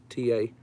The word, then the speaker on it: Washita: It's Washita. Wash it all. I leave the all off.